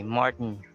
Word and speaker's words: Martin: And the names of people as well, you say they're not pronounced as Martin, except if it has a Spanish origin or Filipino name, then you say Martin Rivera. But when you are in the US, like Martin Luther King, if the person is American, then it has to be pronounced that way, Martin.